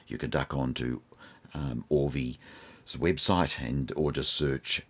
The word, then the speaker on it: Auvi: the entertainment and again it's spelled a uvi which is audio and visual so in our part of the world we're pronouncing it as all v so i hope that